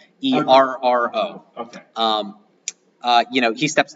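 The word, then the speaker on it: Feroh: You know this is Pharaoh then. but it's not spelled the same way. So it's kind of a play. F-E-R-O-H? Ferro.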